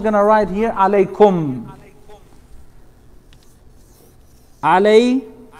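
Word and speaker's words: عليكم: Now, if you see the first letter has a vowel, which is eh. Then you have the second letter, eh. Third letter has a sukoon. So this is pronounced e. Alay. Alaykum. The last letter as well has a sukoon. So the same thing. Alaykum. Only the letter itself is coming out without any vowel associated to it.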